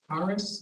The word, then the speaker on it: Carus: Yeah, in the January 26th meeting minutes, Kevin, they talked about this odor reducer, Yes, CARUS, is that how you say it? CARUS?